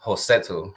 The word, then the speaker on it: Rossetto: So, even with Rossetto, a lot of people just call him Rossetto, but the R is pronounced with a J sound, which is Josetu.